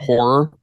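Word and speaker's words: HO99O9: First one, musically, I recommend that you go check out Horror. Literally, it's spelled HO9909.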